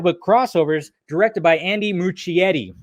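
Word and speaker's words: Muschietti: crossovers directed by andy muccietti which i always say his name wrong right mookie yeti the filmmaker behind the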